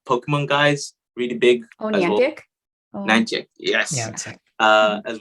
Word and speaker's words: Niantic: players there are, again, Facebook, and you've got Natica, I'm pronouncing the name wrong, but the Pokemon guys, really big. Oh, Niantic?